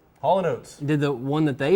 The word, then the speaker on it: Haulin' Oats: Haulin. Hollin? As in you are hauling a car, and oats. Haulin' Oats.